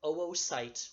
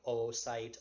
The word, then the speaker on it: oocyte: with the 2 O's, to put an umlaut, 2 little dots over the second O. That's basically like a pronunciation placeholder that shows you pronounce each O separately. So it's not oocyte or oogenesis, it is OO.